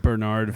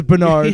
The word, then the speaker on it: Bernard: the doctor's is one syllable. It's like Bernard Fox. Yeah, but the main character's name is Bernard.